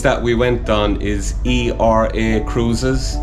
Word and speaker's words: Era Cruises: you have a tour of era cruises yes era cruises of all things the cruise that we went on is e-r-a cruises pronounced era cruises so irish cruises it's just so